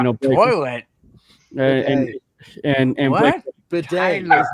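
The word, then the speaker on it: Badie: It's Tyler Bod. It's bad. It's Bedet. Not bad. It's Bedet. That's his last name.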